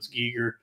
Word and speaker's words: Giger: And the cover for the album is a piece by HR Giger, I believe his name is pronounced Gi- Giger.